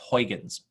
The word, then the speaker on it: Huygens: guy here and the European Space Agency built Huygens that's how you pronounce that launched in 1997 and Cassini was